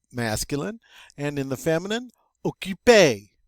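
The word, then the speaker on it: occupé: adjective in the masculine and in the feminine okipe sounds the same but it's spelled differently in the feminine it gets an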